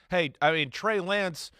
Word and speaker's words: Lance: I mean, Trey Lance, you're saying it right.